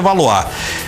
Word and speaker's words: Valois: Não sei se a pronúncia é essa. Se for francês, é Valois.